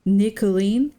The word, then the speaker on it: Nicolene: Even though they're written very differently, the only difference between their names is the ni at the start here. It's Colleen, Colleen, Nicolene, Colleen. They have the same name with one extra syllable.